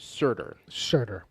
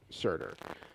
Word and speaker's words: Surtur: It's pronounced Surtur. Surtur.